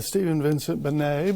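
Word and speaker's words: Stephen Vincent Benét: me b-e-n-e-t yes i'll take that typically it's pronounced stephen vincent bernay but since you can spell it i'm giving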